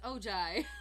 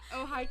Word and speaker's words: Ojai: I was reading it as Ojai. No. Ojai, California.